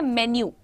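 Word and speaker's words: menu: इसको बहुत सारे लोग मैंने जो सुना है आज तक, इसको मीनू बोलते हैं, मेनू बोलते हैं, अलग अलग नामों से बुलाते हैं। प्रोनाउंसिएशन होता है मेन्यू, मेन्यू, मेन्यू, मेन्यू।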